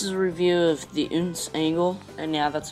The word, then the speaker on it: OonZ: here anyways this is a review of the uns angle and yeah that's how you say it